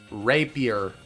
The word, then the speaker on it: rapier: official pronunciation of it Rapier just got to emphasize like Ray and then Pier I just keep saying